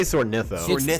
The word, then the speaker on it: Soarnitho: I say Soarnitho. It's the word soar and the word ornitho, as in ornithophobia, which is the fear of peacocks.